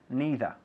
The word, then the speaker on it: neither: Because of course we can all say me too or me neither. También me neither. Hay dos formas de pronunciar neither. Neither y neither. Los dos valen.